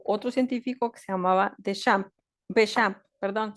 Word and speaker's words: Béchamp: Mucho después de las teorías de Louis Pasteur, llegó otro científico que se llamaba Béchamp, perdón, se pronuncia Béchamp, es francés, algo así.